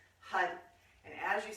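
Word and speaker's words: har: And H-A-R, it's spelled H-A-R. It sounds more like H-U-D because you roll the R, and when you roll the R, the tongue is going to hit the roof of the mouth and activate.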